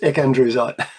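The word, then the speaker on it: ecandrewsite: And I said to him, shouldn't this be pronounced E.C. Andrewsite? Because it was named after Ernest Clayton Andrews, E.C. Andrews. And he said, yeah, probably, you're probably right, but it's too hard to say. So it's ecandrusite.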